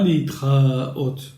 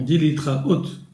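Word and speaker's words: להתראות: veut dire au revoir on dit pas les trains hautes non on délitera haute donc ce mot s'accentue sur la dernière syllabes alors pour désigner ces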